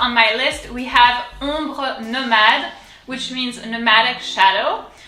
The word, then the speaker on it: Ombre: O-M, ombre. The R comes from deep down, from the throat. Ombre, ombre.